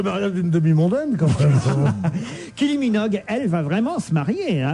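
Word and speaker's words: Kylie Minogue: kil minog Kylie minog vous dites peut-être k minog k minog k minog mais une fois qu'il avait la bonne prononciation non plus Ky minog Ky minog elle est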